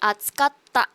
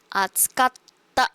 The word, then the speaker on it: 暑かった: Okay, this part is going to be a double consonant, which means it's going to be a double T. And you pronounce it a little harder. Right? Atsukatta. Atsukatta. There's emphasis to the ta syllable.